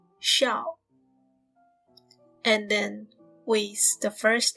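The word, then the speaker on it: 驍: strong horse pronunciation is like shout but without t in the end so it will be like xiao and then waste the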